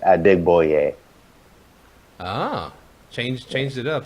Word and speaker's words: Adegboye: for but that's how you pronounce my original last name it's at dig boy yay Oh change changed it